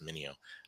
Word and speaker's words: Mineo: know more about mania mineo i now realize it's a it's a play on the word video so i got to pronounce it mineo yeah i mean i